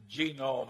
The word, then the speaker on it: genome: mentioned that one but genome I have a hell of a time putting the accident on the first syllable but that is a